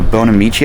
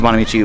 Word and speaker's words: Bonamici: I'm running the Bonamici, I think is how you pronounce it.